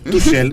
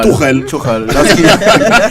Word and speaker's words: Tuchel: Là, vous le prononcez à la française, hein? Tuchel. Tuchel, voilà. En allemand, c'est Tuchel.